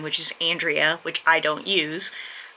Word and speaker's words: Andrea: but they give the Spanish pronunciation, which is Andrea or Andrea or Andrea, all of which are not how you say my name. It's Andrea.